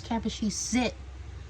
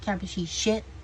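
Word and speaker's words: Kapashesit: and I was like, it's Kappa she sit, not Kappa she shit.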